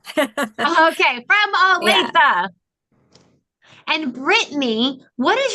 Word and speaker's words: Olathe: It's actually Olathe. Olathe? Yeah, it's a tricky one.